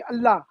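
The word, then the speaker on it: الله: अल्लाह तो मुंह खुला हो जाता है, यानी हमारे जो प्रोनाउंसिएशन होता है, मखरज होता है, अल्लाह लफ्ज ऐसा है कि जब भी हम कहेंगे अल्लाह, हाँ, मुंह खुल जाता है।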